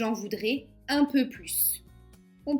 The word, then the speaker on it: plus: Donc on ne prononce pas le S de plus.